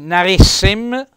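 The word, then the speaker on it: narém: Naria per il femminile noi narem accento Mi raccomando tonico sulla e prima e e accento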